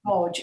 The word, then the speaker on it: Wadge: And Amy, and it's actually pronounced, it looks like Waj, but it's pronounced Wodge.